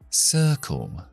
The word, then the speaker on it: circle: Circle.